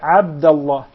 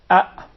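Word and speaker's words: عبد الله: with the eyes okay what normally happens is it is mispronounced by non Arab speakers by saying app and this is how will they write it in English Double A okay but Christian the throat so they will come properly and remember it comes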